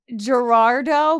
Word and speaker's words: Gerardot: And her last name was Gerardo, but it's spelled Gerardot. So it looks like Gerardot.